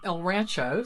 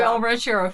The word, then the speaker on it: El Rancho: We had quite the day, but we started out with a prompt uh back in the um El Rancho. See, I said it right. I didn't say El Rancherero for one hotel, which was so cool in Gallup.